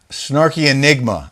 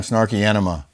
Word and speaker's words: Snarky Enigma: Snarky Enigma. I said it right this time. Snarky Enigma. What did I call her? I said last time Snarky Enema.